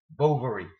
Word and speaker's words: Bovary: it is emma and he added bovary pronouncing the o as recorded by his companion quite short so home and left